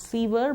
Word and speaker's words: sewer: S-E-W-E-R, not sewer but sewer. Sewer.